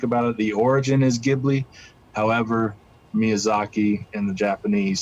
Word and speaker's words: Ghibli: call it jubilee and it's actually more like jibbery you know but but you know to kind of you know make it english more so it's it's more like ghibli so they say the j italians say the g so you know both ways are correct depending on how you